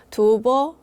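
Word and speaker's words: 吐蕃: 중국어로는 두버 이렇게 발음이 됩니다. 두버 이렇게 발음이 되니까 티베트하고 어 뭔가 발음상으로는 비슷해집니다.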